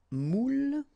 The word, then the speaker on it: moule: Un moule. Okay, and you've got here the meaning. Un moule. And the feminine form, une moule. Alright. Une moule. Okay, keep in mind you pronounce them the same way, but then, as you